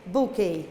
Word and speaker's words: bouquet: is it book hey it's pronounced like this bouquet yeah is it all